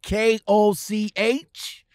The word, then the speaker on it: Koch: It's spelled K-O-C-H, but it is pronounced Koch Trucking.